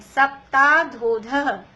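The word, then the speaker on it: सप्ताधोऽधः: भूमयो घनाम्बु वाताकाश प्रतिष्ठा सप्ता धदोध। धदो नहीं है, सप्ताधोध। सप्ता धोध। धोध। ये जो एस जैसा बन रहा है इसका प्रोनाउंसिएशन नहीं करते, वो आ होता है लेकिन प्रोनाउंसिएशन नहीं करते, सप्ताधोध।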